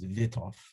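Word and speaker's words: Wythoff: thought sequence is this i guess probably it should be pronounced vitov but i'll say wipe off and uh these are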